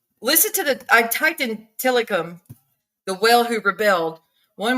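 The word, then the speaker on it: Tilikum: Yes, that whale, Tillicum, is how they say it.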